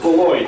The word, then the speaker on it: Beloit: But Beloit, it is pronounced Beloit, correct, John?